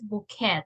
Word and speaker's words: bouquet: The pronunciation of this is bouquet. Everybody repeat, bouquet. Bouquet.